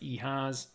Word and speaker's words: EHAS: EHAS was the acronym. Everyone has a story. It's pronounced EHAS. He created a little prototype.